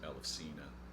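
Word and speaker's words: Ελευσίνα: the ancient Eleusinian mysteries, or as she would pronounce it, Elefsina.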